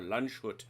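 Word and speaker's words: Landshut: that's because this is lanzhut or lunchhut as i've heard it pronounced um the the very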